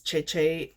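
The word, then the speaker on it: Zeze: um my husband's cat and his name is cheche it's uh z e z e it is um a Korean um pronunciation and yeah so um and it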